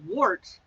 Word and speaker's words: wort: I believe it's pronounced wort, like wort, W-E-R-T, but it's spelled W-O-R-T, like a wort.